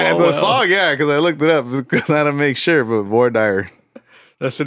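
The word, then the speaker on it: Voir Dire: I had to make sure, but Void Dyer.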